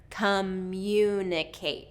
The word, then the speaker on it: communicate: So what native speakers tend to do is to put a glide sound in there. So that's why the y sound is in there. Communicate. So instead of communicate, we're going to go communicate. And again, that long vowel at the end of kate, make sure that you get that full movement of the mouth for that long vowel.